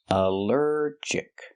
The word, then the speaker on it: allergic: The stress is on the second syllable. Allergic. Allergic. Here the al is not pronounced all but pronounced uh like in cup and up because it's not stressed.